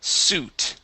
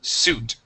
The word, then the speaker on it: suit: is this one here the word is suit okay sweet has an e at the end this word is suit and Su there you